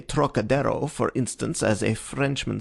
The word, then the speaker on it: Trocadero: That peculiar throaty aspirate the Frenchman gives to the first syllable, as though it were spelled Turok, is utterly beyond the Chinese, and beyond the American too, whose idea of the tonsillar aspirate leads him to speak of the trochidiro, naturally falling back upon